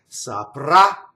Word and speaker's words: saprà: And saprà, a. So here's the future tense, saprà. It ends on the final syllable.